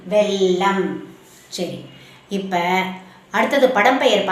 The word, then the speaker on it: வெல்லம்: அந்த உச்சரிக்கும் போது வெல்லம் சாதாரணமா உச்சரிக்கணும். சரியா வே இல் ல இம் வெல்லம்.